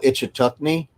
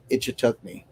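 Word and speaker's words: Ichetucknee: i-c-h-e i-c-h-e tuck-knee t-u-c-k-n-e-e ichitogni yeah kind of how it's spelled and sounds about the same it took me a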